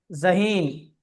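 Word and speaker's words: ذہین: ذخيرة طيب الذال أيضا لا ينطق مثل الذال العربي، وإنما ينطق زي. جيد. مم. نعم. إذا لما نقرأ الذال فنقرأ مثل زي ونقول ذخيرة. ذخيرة زهين.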